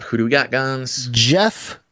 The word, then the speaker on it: Geoff: And he sends a note that says, "My name is Jeff." And in parentheses, he says, Jeff. That's because his name is spelled Geoff.